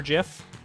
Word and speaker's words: GIF: soft G I think I tend towards the soft G for GIF but I definitely have said gif as well in the past I kind of flip-flop